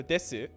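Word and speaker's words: です: there's nothing after it and you don't need to reactivate your voice box it's easier to say when you just say this so desu is this except when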